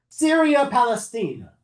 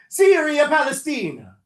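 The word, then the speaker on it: Syria Palaestina: So they rename it, close, no, Syria Palestina. I have to try and say it like an Italian, because they're Romans. I don't know if that's how they sound. I don't know. But Syria Palestina.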